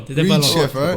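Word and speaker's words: Reid Schaefer: J'espère que je le prononce Reed comme Schaeffer, il faut. t'étais pas loin. Reed Schaeffer. Yes.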